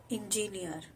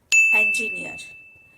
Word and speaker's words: engineer: It's a very common word which people often pronounced as engineer, but it's not engineer, it's engineer.